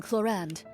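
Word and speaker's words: Clorinde: decent healer regardless and now let's go with Claren or claron you know what while I'm debating how to pronounce her name with myself why don't I just hear her say it I am cland a champion duelist of the court of Fontaine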